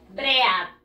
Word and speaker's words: bread: No se pronuncia así porque como ya lo hemos dicho anteriormente, la escritura y la pronunciación are very different. Son muy diferentes. Muy bien, chicos. Pan. En inglés se dice bread. Ah, mire. Como si no estuviera la A nada más. Le quito la A.